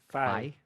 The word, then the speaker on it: Faye: You don't pronounce the E on the end? Faye.